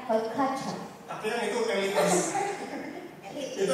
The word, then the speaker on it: haute couture: Tulisannya haute couture. Bacanya haute couture.